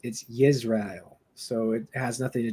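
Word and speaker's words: ישראל: In Hebrew, it's Yisrael, so it's Y like Yahshua. Well, that's the Messiah or Joshua. You're But yeah, here to teach. yeah, in Hebrew it's Yisrael, so it has nothing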